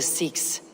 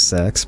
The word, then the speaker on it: Seax: I'll say Seax because that's how Eivor's pronouncing it, even though I've always thought it was Sax, but anyway.